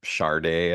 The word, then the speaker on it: Sade: So it sounds like is it Sade? I think you pronounce Sade, it.